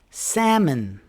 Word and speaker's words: salmon: Rule number 5 is the L is silent after A and U. Here are some examples. Do we say walk? We don't say walk. We say walk. Talk. Half. Salmon.